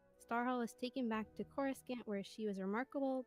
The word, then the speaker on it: Coruscant: Coruscant. Coruscant. Like croissant, but not croissant.